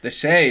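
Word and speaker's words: de Chelly: Deay is how they pronounce it.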